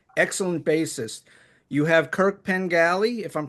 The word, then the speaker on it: Pengelly: You have Kirk Pengelly, if I'm pronouncing his name right. Pergelly, Pengelly, yeah, yeah, close.